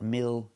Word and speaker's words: mildew: Mildew. That's right. Not mild, but milloo. We're using the most common pronunciation of ew at the end.